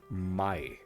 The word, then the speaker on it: maai: our last topic of the day this is my so what is my I'm going to talk